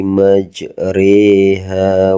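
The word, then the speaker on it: مجريها: Ini jadi kalau cara membacanya bismillahirrahmanirrahim waqarkabu fiha bismillahi majriha wa mursaha. Bismillahi majriha wa mursaha. Jadi kita baca re di sini teman-teman ya.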